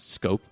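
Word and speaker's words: Schoop: Jonathan Shoup pronounced Scope.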